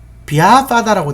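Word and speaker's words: vyāpāda: 그 다음 이제 비아빠다라고 되어 있는데 요거 이제 V 해도 됩니다. 비아빠다 해도 되는데 요렇게 Y가 있을 때는 B로 합니다. 근데 발음은 비아빠다라고 되어 있는데요. 이게 성질 내는 겁니다.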